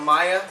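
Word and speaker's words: Mya: We are smoking out of a Maya or a Mia, depends on how you want to pronounce it.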